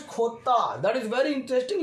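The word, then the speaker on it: jota: J is pronounced in Spanish language Khota.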